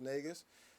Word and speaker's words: Negus: You can find me on all social media at the Bass Negus, or Negus. It's technically pronounced Negus. I say Negus because it helps some of you guys, pronounce it a little easier.